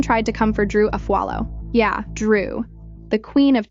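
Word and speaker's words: Afualo: They even tried to come for Drew Aallo. Yeah, Drew. The queen of Tik Tok clapbacks. One of the guys purposely mispronounced her last name, calling her Drew a fluo like it was some kind of joke.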